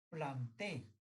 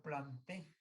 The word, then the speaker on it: Plantae: Pero al vegetal le han puesto ahorita planté, que se escribe plantae.